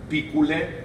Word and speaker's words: picule: referencia a la difunta, picule, en dativo, de la que se dice que es sorori carissimi. Aquí hay varios elementos importantes. Picule, en realidad, es un dativo que se ha escrito como se pronuncia.